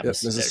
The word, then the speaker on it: Mississauga: So it was great to get some more Canadian cheese from, I'm going to pronounce this wrong, Mississauga, which is outside of Toronto. Yeah, Mississauga.